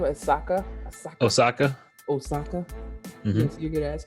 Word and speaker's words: Osaka: How do you pronounce her last name? Osaka.